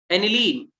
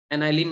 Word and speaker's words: aniline: एनिलीन, एनाइलिन नहीं बोलते उसे, ठीक है, मतलब प्रोनाउंसिएशन है, तुम शायद जो सही लगे बोलो, बेटा एनिलीन बोलते हैं इन जनरल, जैसे ठीक है।